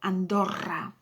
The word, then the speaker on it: Andorra: Now sometimes you come across as well two O's, so you double the O, you roll the O, Andorra.